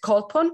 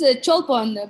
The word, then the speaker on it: Cholpon: Is it Kolpon? Is it correct? It's Cholpon.